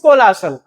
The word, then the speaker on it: colossal: Exact pronunciation is कोलासल, बट इट is having the meaning that is very huge, कोई चीज बहुत बड़ी।